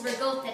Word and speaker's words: ricotta: Now some people pronounce this cheese ricotta cheese, but the real way is ricotta cheese. And I know that my grandparents are from Italy, and that's the way that the Italians say it, so I just say it that way.